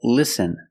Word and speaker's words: listen: t is silent example listen and fasten you see s t en with this spelling pattern you can see the t is silent listen we don't say